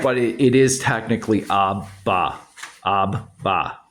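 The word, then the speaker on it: אבא: So that's why Abba sounds like one B when we say it, right? Right. But it is technically Abba, Abba, Correct.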